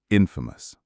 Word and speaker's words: infamous: The stress for both words is on the first syllable. Famous. Infamous.